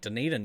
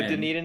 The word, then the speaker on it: Dunedin: I think Dunedin used to have one.